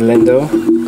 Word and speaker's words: Lindo: good tonight so my name is Lindo like the chocolate like because some people don't know how to pronounce it okay I'm starting to